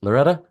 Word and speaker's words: Loretta: brand and executive presence Loretta welcome to Leading with curiosity thank you so much Nathan it's uh you pronounced my name perfectly you know with a rolling R that's how it sounds so it's perfect you